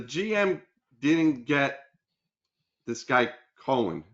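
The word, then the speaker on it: Coen: yeah, Cohen, That's yeah, how it's pronounced.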